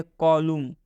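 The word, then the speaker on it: column: जैसे कॉलम, कॉलम में एम के बाद एन आया है, तो जब भी एम के बाद यदि एन आता है तो उस एन का उच्चारण नहीं करना है।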